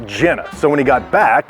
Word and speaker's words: Genna: they were all Jenna Vince's family name in Italy is pronounced Jenna so when he got